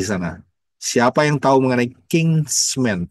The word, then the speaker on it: kinsman: Siapa yang tahu mengenai kinsman? Bukan kingsman ya, tapi kinsman. Jadi beda ya, beda pengucapan ya.